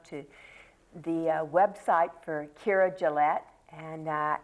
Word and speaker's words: Gillett: And I want everybody to try to go to the website for Keira Gillett, and it's Keira, and it's Gillette.